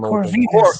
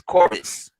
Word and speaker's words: Corvus: No, he's like Corvinus. It's Corvus. It's Corvus.